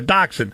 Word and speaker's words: dachshund: A dusha, dachshund. What kind of a dog is how do you pronounce that? Dasha? Tell me what you do. A dachshund? Okay, there you go, a dachshund.